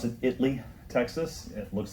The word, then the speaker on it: Italy: They're in, they pronounce it Italy, Texas. It looks like Italy to me, but they call it Italy.